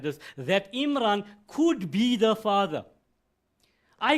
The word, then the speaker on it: Imran: And we have shown there that Imran rather, the right way to pronounce it, Imran. My accounting teachers used to say Himran.